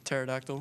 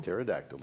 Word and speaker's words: pterodactyl: have evolve powered flight the silent letter is p pterodactyl pterodactyl is right now for